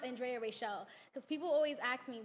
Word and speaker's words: Andrea Rachel: But when you see me, it's Andrea Rachel. That's how it's pronounced. Yeah, because my father is West Indian, so that's how they pronounce it.